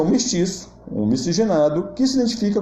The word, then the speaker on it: mestizo: Existe na língua inglesa a palavra mestiço, né, se escreve mestizo, mas eles pronunciam mestiço.